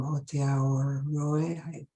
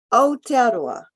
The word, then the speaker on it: Aotearoa: So Catherine is from Aotearoa. Can you say how to pronounce it, please? Aotearoa.